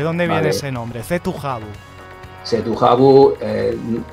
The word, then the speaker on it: Cetu Javu: Cetujabu, la pronunciación nuestra era de Cetujabu. Tenía que sonar un poco francés.